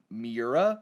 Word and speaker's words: Miura: 14 to mourn uh miura i believe that's how you say his name yeah with many with